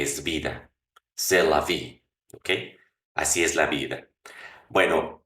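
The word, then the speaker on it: eau: ¿Cómo se dice agua? O. ¿Cómo se escribe? E-A-U.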